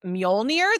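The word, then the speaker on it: Mjölnir: I am going to mispronounce this. Nobody come for me. I don't even know. MJOLNIR. Like Mjolnir?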